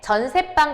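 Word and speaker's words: 전세방: 발음은 어떻게 하냐면 전세 빵이라고 뒤에 있는 방을 된소리로 발음은 해요. 하지만 둘 다 한자어이기 때문에 전세빵 같은 경우는 밑에 사이시옷을 쓰지 않아요.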